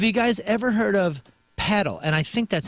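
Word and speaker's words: padel: Have you guys ever heard of paddle? And I think that's how you describe how you pronounce it. P A D E L. Paddle.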